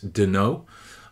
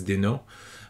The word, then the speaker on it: Denault: His name is Vincent Denault. It's French, so it's a French name, so I'm guessing it's Denault.